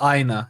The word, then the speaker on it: Aina: It's Aina. Yeah, I like say it like it's your eye in the Aina.